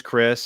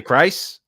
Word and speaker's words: Chris: His name's Chris, and Bert pronounces that wrong too sometimes, and that's true. I've heard him say Christ. I've heard him say please, and I've heard him say, but none of those were right.